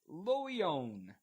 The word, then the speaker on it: Le Loyon: This is Le Loyon. L-E. Perfect pronunciation.